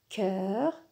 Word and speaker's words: chœur: Le CH qui se prononce habituellement sh, se prononce ici k, k. C'est exceptionnel. Dans ce mot, le CH se prononce k.